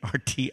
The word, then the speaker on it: Martin: You can always find me by just Googling my name, Martin, and it's not spelled with an E at the end. That's a French woman's spelling. It's Martin, and the last name is.